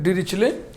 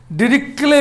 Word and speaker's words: Dirichlet: डिरिचले टा का उच्चारण इसमें नहीं होना, टी साइलेंट है. डिरिचले, डिरिक्ले भी का भी लोग बोलते हैं, सी एच को चा और का दोनों बोलते हैं.